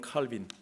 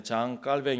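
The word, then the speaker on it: Jean Calvin: 되는 우리 요한 칼빈 영어식으로 좋은 칼빈 프랑스 사람이기 때문에 장 깔 뱅 이라고 프랑스 발음으로 썼는데 그분이 쓰신 기독교 강요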